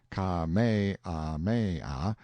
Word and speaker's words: Kamehameha: I heard afterward that the comfortable, easy-going King Kamehameha, pronounced Ka-me-ah-me-ah, the fifth, had been seen sitting on a barrel on the wharf the day before, fishing.